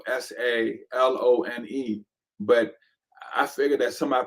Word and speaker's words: Salone: Is that Oh, how you pronounce Siloam, Siloam. Salone? Right. Salone.